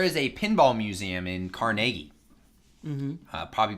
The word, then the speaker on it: Carnegie: in Carnegie mmm-hmm probably people are listening to me really bad because they're probably looking like Carnegie because I think most people pronounce it Carnegie I know but I think that's I think that's a Pittsburgh thing I think it's like it's not Pittsburgh ease but like we just call it that yeah it's we just